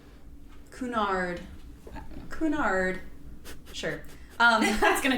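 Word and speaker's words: Cunard: Construction for the Queen Mary started in 1929 and was financed by the Connor line. I should have looked up that pronunciation, but I didn't. Um, Kunard.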